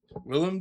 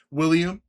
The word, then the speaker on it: Willem: Willem Dafoe, not how do people mispronounce his name? William.